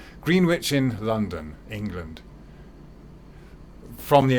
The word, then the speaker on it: Greenwich: Sorry, I should pronounce it correctly. Greenwich in London, England.